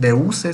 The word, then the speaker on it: Duce: Entonces, así como Hitler iba a ser el Führer, acá en Italia Benito Mussolini iba a ser el Duce, así le decían, Deuse se escribe el Duce.